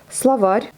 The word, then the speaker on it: словарь: Словарь, pareil, on prononce un A, ça s'écrit en O.